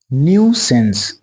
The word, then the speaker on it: nuisance: न्यूसेंस pronunciation ध्यान से सुनिएगा।